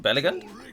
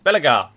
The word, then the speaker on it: Belegar: angr and bella gordon is he called belligan his name wrong bellagar i always don't add an on i don't know why that's anyway here we